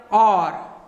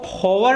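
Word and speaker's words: hour: इसको क्या पढ़ोगे साहब, इसमें H साइलेंट रहता है, इसको पढ़ते हैं और, क्या पढ़ते हैं, और क्या पढ़ते हैं, एन, और, तो यहां होगा एन। ध्यान रख लेना, ये इसको होवर नहीं पढ़ेंगे, इसको पढ़ते हैं ओवर।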